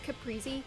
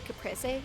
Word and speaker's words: Caprese: I I've always pronounced it Capriy, but other people say Caprese, and so I end up like combining the two names together.